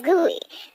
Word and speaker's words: GUI: Windows is a graphical user interface, GUI, pronounced as GUI, between a computer and its user.